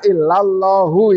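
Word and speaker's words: إلا الله: Bacanya illallahu karena ilahnya bukan ilah nasoba lil mustasna karena belum ada cerita.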